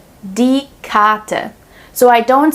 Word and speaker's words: Karte: We pronounce the R silently more like an A if the R is placed right before a consonant. Zum Beispiel, die Karte, die Karte.